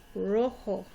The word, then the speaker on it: rojo: Again, you notice the J makes an H sound. O sounds like a long O sound. Rojo.